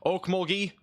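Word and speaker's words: Okmulgee: reported in um near Morris near Oak o Oak muli that's how you say it um so this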